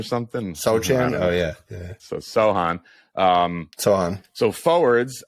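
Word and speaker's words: Sochan: so chain or something oh yeah yeah so Sohan um so on so forwards against Dallas since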